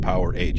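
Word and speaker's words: Powerage: takes my goddamn song just in case you don't know it's pronounced power hent a little known fact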